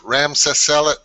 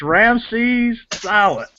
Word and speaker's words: Ramses Silent: Listen, it's Ramses Silent. Ramses Silent.